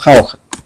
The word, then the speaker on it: Jauja: Entonces, cuando Jauja originalmente siempre se escribe con X, o sea, debe haberse pronunciado antes Shausha. Y después cambió Sausa y, como les dije, Jauja. Hoy día decimos Jauja.